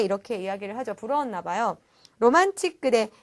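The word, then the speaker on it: ロマンチック: 로만틱 그대 이 데스네 라고 했는데, 자, 발음이 굉장히 우리나라 말과 조금은 끝이 달라요. 우리는 로맨틱하다 뭐 이렇게 이야기를 하는데, 이 틱에 해당되는 부분이 일본어로는 치크라고 발음이 나게 되거든요.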